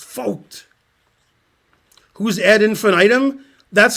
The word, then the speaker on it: Vogt: It's pronounced Vogt.